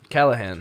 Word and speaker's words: Callaghan: Is Cal Callahan.